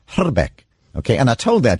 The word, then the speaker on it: Hrbek: remember him yes exactly I speak a little bit of Czech and the actual correct pronunciation of his name is hala Beck okay and I told